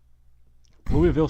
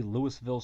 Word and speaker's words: Louisville: Louis that would be Louisville Slugger that's not a Louisville Slugger dum-dum how do you spell Louisville I mean there's an s in Louisville but you don't pronounce it yeah but you didn't